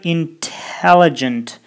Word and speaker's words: intelligent: Ал эми бул жерде болсо intelligent. Intelligent эмес, intelligent. Ал эми interview дегенде interview же интернет дегенде internet болот, бирок тыдан кийин ударение келсе, басым келсе, анда тыны окуйбуз.